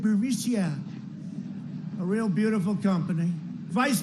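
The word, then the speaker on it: Burisma: this uh bureaucia burmesia they say pronounce it borisia a real beautiful company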